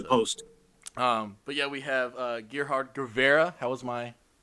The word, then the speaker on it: Gerhard Guevarra: but yeah, we have Gerhard Guevarra. How's my How to do?